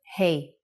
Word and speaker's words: Hey: from this lesson sound like hey in English when you say hello to your friends that's exactly the sound for the Hebrew letter hey now you can think